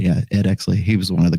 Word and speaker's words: Ed Exley: Yeah, Ed Exley.